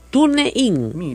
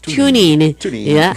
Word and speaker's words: TuneIn: TuneIn. Mira, así no se dice, se llama TuneIn. Pero para que usted entienda en castellano así, TuneIn.